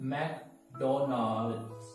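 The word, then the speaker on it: McDonald's: पहला जो है वो है, हम बोलते हैं मैकडॉनल्ड्स। Sometimes we pronounce it wrong way.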